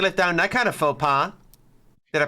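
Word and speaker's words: faux pas: Hard to let down that kind of faux pa. Did I pronounce that right?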